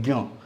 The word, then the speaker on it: ज्ञ: हैं ये जो है इसको सिंपल भाषा में ज्ञ बोलते हैं अधिकतर लोग ग प्लस ञ ठीक है ज्ञ बट कुछ का कहना